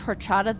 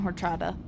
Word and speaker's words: horchata: I did just pronounce the H in horchata. Unfortunately, that's how everybody I grew up around pronounced it, so...